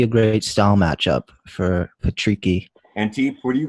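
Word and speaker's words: Patricky: Patrici. Patrici. Yeah. Okay, there we go. It's yeah, I think Tufik would be a great. Yeah, that'd be a great style matchup for Patrici.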